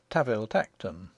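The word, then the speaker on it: Tanville-Tankerton: We are told in an authorial footnote that the Duke's family name, spelt Tanville Tankerton, is to be pronounced Taville Tacton, and one may assume that the name of his country seat follows suit.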